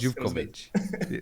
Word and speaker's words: Zivkovic: Zivkovic. There we go. I'm not gonna hold any grudges over the mispronunciations of weird Eastern European last names.